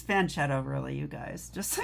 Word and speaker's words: fianchetto: It's fanchetto, really, you guys. Just so you know. I like to say French cheeto because, it's funny. It's really called a fanchetto or fianchetto. Fianchetto is how they say it.